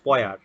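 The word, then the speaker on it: payar: So this word P-A-Y-A-R, it's actually a Bengali word and it's pronounced poyar, and it's the name of a rhyme in in Bengali poetry.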